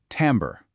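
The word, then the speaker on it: timbre: The word is timber, and it's pronounced tambber.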